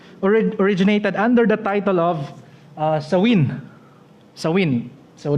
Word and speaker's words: Samhain: Ang history sa Halloween originated under the title of Samhain. So the word Samhain pronounced as Samhain.